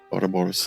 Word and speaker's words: Ouroboros: Ouroboros, I believe it is, right? How do you say that, Baranji? Please correct me. Ouroboros, thank you.